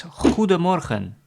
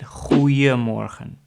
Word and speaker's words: Goedemorgen: So, the common greeting in the morning is Goedemorgen. And most people say it a little faster, so they leave out the D of Goedemorgen. They make it Goeiemorgen. So that's how most people pronounce Goedemorgen as Goeiemorgen.